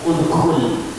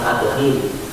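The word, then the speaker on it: ادخل: Kemudian udkhul, masuklah. Bacanya bukan adkhil, karena perbedaannya dibaca rumah.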